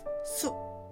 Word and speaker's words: 숲: Forest in Korean is called 숲. We write 숲 like this, but the pronunciation is 숲.